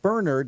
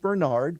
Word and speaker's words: Bernard: was a relative, and they pronounced it Bernard, and I thought you would like to know. Well, absolutely. I mean, we strive for accuracy. Getting the guy's name wrong would be horrible. So, yes, it looks like Bernard, but his name was Bernard Coyne.